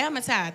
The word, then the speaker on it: Amittai: It says, now the word of Jehovah came unto Jonah, the son of, I don't know how to pronounce this word, but is it Amittai? Okay, Amittai, thank you.